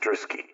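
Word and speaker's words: Druschki: are radiance FR Carl druski that's D us cki anounced druski ailia Ru and templets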